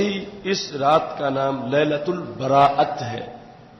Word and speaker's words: لیلۃ البراءت: اس رات کا نام لیلۃ البراءت ہے۔ عمومی طور پر اس کے تلفظ میں بھی کچھ لوگ غلطی کرتے ہیں، اسے شب بارات کہہ دیتے ہیں۔ تو بارات اردو کا لفظ ہے اور براءت عربی کا